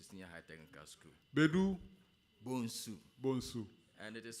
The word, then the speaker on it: Bonsu: Bedu Bonsu. Bonsu. And it is spelled B-O-N-S-O-E. If you don't take care, you pronounce it Bonsoir.